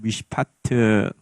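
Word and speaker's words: משפט: 미시파트.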